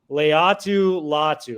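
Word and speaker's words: Laiatu Latu: And you got to correct me if I mispronounce this one again. Leatu Latu.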